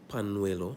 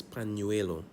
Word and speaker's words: pañuelo: Because remember, it's N-Y and not N. So it's not pañuelo, it's pañuelo.